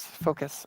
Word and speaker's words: focus: Do not mispronounce focus. Sorry if I did. It's Canadian. It's how we say it here in Canada.